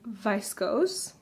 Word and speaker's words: viscose: It is made up of linen and viscose. I think viscose is the way you say it. In German it's Viskose, and so I think it's viscose.